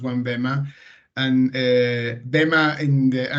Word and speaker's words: Onebema: or well at least the name it's actually pronounced one BMA and er BMA in the ancient in ancient